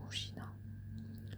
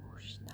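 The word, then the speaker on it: むじな: Et du coup, en japonais, ça s'écrit, enfin ça se prononce Mushina. Mushina, Mushina, Mushina.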